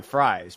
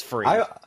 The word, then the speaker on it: Fries: I would think, initially people probably thought, and I thought this too, it was Fries, but no. Yeah. It's Freeze. I wish that my last name were pronounced Fries. I think that'd be way cooler, and I'm a big French fry fan too.